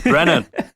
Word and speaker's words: Brennan: It's Brennan. Brennan, yeah. Well, I haven't encountered many Brennans in my life. I've encountered a lot more Brendans.